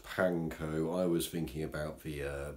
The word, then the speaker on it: panko: need a lot of this these are the pachinko breadcrumbs or figures plants you basically find in